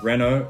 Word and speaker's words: Renault: next up we have renault i say renault renault is a french brand and it is pronounced renault if you want to hear how it should be pronounced correctly and not butchered by my horrible accent the renault formula one team boss cyril abitabul pronounces it